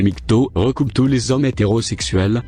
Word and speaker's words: MGTOW: pour mengo interway généralement le mouvement mis k o a prononcé nikto recoupent tous les hommes